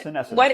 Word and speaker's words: senescence: So, you did mention something before, senescence. Am I pronouncing this right? yeah, What senescence.